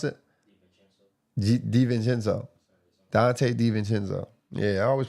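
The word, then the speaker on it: Donte DiVincenzo: Dante DiVincenzo. I always pronounce his name wrong. How you pronounce it? DiVincenzo. Dante DiVincenzo.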